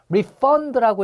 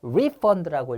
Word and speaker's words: refund: 그다음에 refund라고 읽으면 동사로 환불하다고요. refund라고 읽으면 명사로서 환불이에요. 명전 동우죠.